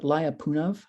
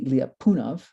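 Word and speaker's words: Lyapunov: to pronounce it uh don't call it liapunov okay that's that's kind of you know umbe that's in Texas that's right but not here actually if you're uh Russian it should be a it should be liapunov the accent should be there but we abuse that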